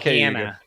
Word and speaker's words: Cayuga: on videos down here, they say Cayuga, which they mispronounce lake names all the time. So I'm trusting the New Yorker. What he says is it. We call it Cayuga.